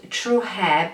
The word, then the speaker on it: TruHair: here actually so this company is called true hair but is spelled t u hair don't know if you